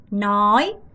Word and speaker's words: nói: 여러분 nói, nói, nói 이렇게 발음하셔야 되는데 너한테 nói 말해줄게.